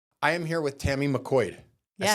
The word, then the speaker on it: McQuoid: I am here with Tami McQuoid. Yes. I said that right. You said it right. But it's spelled. Yeah. McQuoid. It's the 3 vowels in a row. It throws people way off.